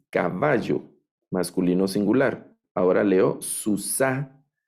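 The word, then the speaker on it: סוּסָה: masculino singular Ahora leo Susana Recuerden el acento al final susa es femenino singular este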